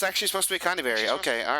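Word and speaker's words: Conyberry: I feel like it's actually supposed to be Conberry, but it's They put a Y in it. They did. They straight up did. It's Connyberry. That's too funny. No, it's actually supposed to be Connyberry.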